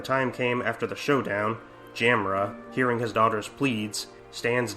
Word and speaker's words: Jamila: For the new episode, the writer upped the ante by giving Jamila, now pronounced Jamra in this version, the ability to appear